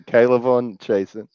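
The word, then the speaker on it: K'Lavon Chaisson: to butcher the pronunciation of his name, but Kaylavon Chasen. Is that how it is? Chasen. You pronounced it very Kaylavon Chasen.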